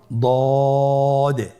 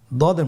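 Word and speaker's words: ض: পরবর্তী হরফের নাম হলো দদে। দেখতে একই রকম সদের মতোই, শুধুমাত্র নোক্তার পার্থক্য। সদের মধ্যে কোনো নোক্তা নেই, দদের মধ্যে নোক্তা রয়েছে। দদ হরফটি উচ্চারণ করার সময় অবশ্যই 3 আলিফ টেনে পড়তে হবে।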